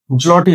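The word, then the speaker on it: złoty: এরপরে পোল্যান্ডের হচ্ছে জলটি, জলটি হবে উচ্চারণটা, হাঙ্গেরি হবে ফ্লোরিড।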